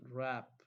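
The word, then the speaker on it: wrap: silent B is solid rap rap w e silent thistle what is the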